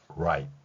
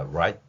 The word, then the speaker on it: right: G하고 H는 거의 소리가 나지 않습니다. 그리고 T는 티읕으로 소리가 나겠죠. 그러면 이렇게 왼쪽에서 오른쪽으로 소리가 쭉 흘러가는 방식이 알파벳 표기 원리라면 우리의 글자 표기 원리는 아래에서처럼 right 이렇게 발음한다는 것입니다. 자, right 마지막 티읕은 약하게 소리를 내거나 소리의 호흡을 중단시키는 발음이라는 것이죠.